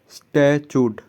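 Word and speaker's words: statute: इसका सही प्रोनाउंसिएशन होगा ना, ये होगा स्टैचूड, ठीक है, स्टैचूड ऐसे बोलना है, ST मतलब स्टैचूड, सी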